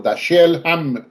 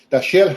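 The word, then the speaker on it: Dashiell: originada a raíz de una novela escrita por dasel dasel hamet Perdón dasel hamet dasel se escribe d a s h i e l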